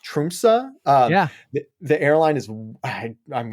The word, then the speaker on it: Tromsø: It was actually, funny enough, sold by a small Norwegian airline based out of, I believe it's pronounced Tromsø.